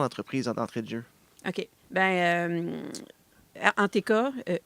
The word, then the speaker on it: Entk: Anteka, NTK, prononcé Anteka, c'est une entreprise à vocation culturelle et identitaire qui vise à faire la promotion de la fierté franco-ontarienne.